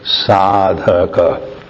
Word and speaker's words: sadhaka: to you many sadhakas get the pronunciation correct sadak and sadhas feminine many sadhakas and sadhas